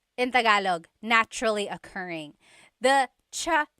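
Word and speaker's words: tsaa: And it's spelled ts aa aa. Cha. Cha. That's such a Tagalog spelling. I love it. There's the ts sound and then the double vowel uh pronunciation.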